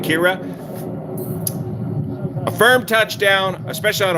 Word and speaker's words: Ciara: firm touchdown kira yeah it's kira i'm from ireland that's the way we say it did i say it right kira a firm touchdown especially